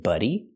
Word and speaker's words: buddy: single day a fit buddy this is a buddy a buddy is a friend they're buddies they're friends the pronunciation we use a short uh sound like cup and up they're buddies they're friends